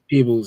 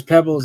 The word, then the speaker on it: Peebles: peebles or is that is that how you pronounce it people peebles yeah yeah because pebbles is is one e2b yeah it was peebles